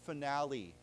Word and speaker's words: finale: the P, and then we have words like finale where we pronounce the E, and so, yeah, it can be a little bit complicated sometimes.